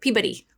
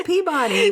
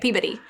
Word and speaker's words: Peabody: the Peabody Essex, which, by the way, they pronounce it Peabody. Peabody. The Peabody Essex. Yeah. And we're like, no, it's Peabody. We're from Arkansas. Well, now you know how to say it, Peabody.